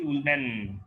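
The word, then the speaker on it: Ullmann: এছাড়া আরেকখানা রিয়াকশন আছে যেখানে যেটা খালি অ্যারোমেটিকই করতে পারে, রিয়াকশনটা হচ্ছে উলম্যান রিয়াকশন, রাদারদের উচ্চারণ হচ্ছে উলম্যান রিয়াকশন, ঠিক আছে।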